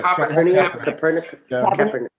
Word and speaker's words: Kaepernick: Kaepernick.